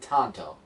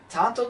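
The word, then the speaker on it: Tonto: if I say his name right is it Tanto yeah thank you so he goes after them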